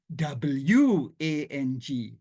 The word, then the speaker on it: wang: beruang, because in Malay, the word is not uang, it's not U-A-N-G, but it is spelled W-A-N-G, wang.